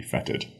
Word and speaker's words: fetid: our second word is feted feted feted is spelled f t fet i d it feted if you're British English feted will We spelled for you f o e t d feted same pronunciation feted means something similar